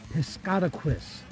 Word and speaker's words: Piscataquis: This is the east branch of the Piscataquis. I was able to ask a local and find out the right way to pronounce it.